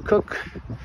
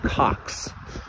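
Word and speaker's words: Cocks: coast digital director christopher cook to the position as hasbro ceo and yes i know i am saying his name wrong because actually his name is christopher cox cox but really with a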